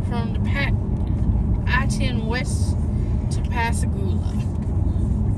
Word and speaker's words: Pascagoula: It will say you are 2 miles from the I-10 West to Pascagoula. Pascagoula. Pascagoula. Pascagoula. Pascagoula. Pascagoula.